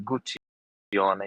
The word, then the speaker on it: Guccione: And yeah, well, my name is Guccione, the way that you pronounce the Guccione. You have to put three fingers together like real Italian and say Guccione for full experience and pleasure.